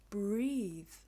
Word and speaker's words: breathe: take your breath away this is a similar spelling but with an e at the end this word is pronounced breathe breathe I could not